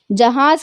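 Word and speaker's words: جہاز: जहाज क्या है? अपन नॉर्मली प्रोनाउंस कर सक रहे, जीम है अलीफ जे, जहाज, एयरप्लेन को बोलते हैं।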